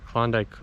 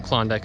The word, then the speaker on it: Klondike: So Trondek is actually where the river named Klondike comes from. Klondike is actually kind of a mispronunciation of Trondek.